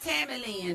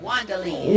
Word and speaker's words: Juandalynn: Not Tammy Lynn, but Juandalynn.